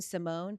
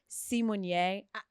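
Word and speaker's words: Symoné: years ago she said this Raven Simone it's Raven simier you're not getting that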